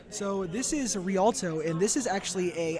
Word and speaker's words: Rialto: your map knowledge however i think you mispronounced it it's actually rialto but i can i